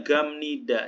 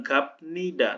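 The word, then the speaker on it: 갑니다: Ini kan tulisannya gamnida, gapnida, maka dibacanya gamnida. Jadi biupnya berubah jadi mium, gamnida, bukan gapnida, tapi gamnida.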